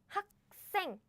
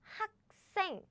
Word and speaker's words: 학생: So these sounds becomes double, as in 학생, 학생.